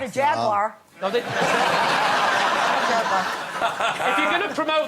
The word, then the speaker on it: Jaguar: no not a Jaguar jagar if you're going to promote them at least learn to say it properly how am I say Jaguars three syllables over here yeah you say you're